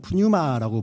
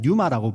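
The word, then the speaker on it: πνεῦμα: 이 spirit이 우리 헬라어 원어에는 한국에는 푸뉴마라고 부르는데요. 그 P가 묵음입니다. 그래서 영어식으로는 그냥 뉴마라고 부르는 게 훨씬 더 맞겠죠. 헬라어도 묵음입니다.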